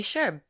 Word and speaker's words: Scherb: Scherb, I should say. And great pronunciation of my last name.